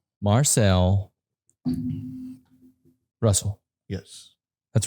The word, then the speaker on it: Russell: the first time so oh no it's Russell I I've heard a worse people call it rousel I guess it depends